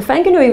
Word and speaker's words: Whanganui: can run through the different jurisdictions but the whanganui river and i'm told that's how you pronounce it by a trusted person from new